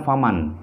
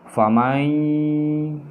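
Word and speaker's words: فَمَنْ يَعْمَلْ: Serta cara bacanya tidak lagi faman, ya, tetapi langsung nun matinya itu seakan-akan hilang atau dileburkan atau seakan-akan tidak dibaca dan melebur ke dalam huruf ya di sini. Jadi dibacanya famai, ya.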